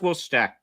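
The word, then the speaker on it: Worcester: that different than wor oh okay yeah it's pronounced Worster wor sauce not wor not wor Fire Sauce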